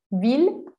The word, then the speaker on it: ville: no se pronuncian así aquí sí las vamos a pronunciar como una l con estas cuatro palabras vil bill miller con kindle